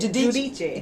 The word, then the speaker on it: Giudice: Giudice.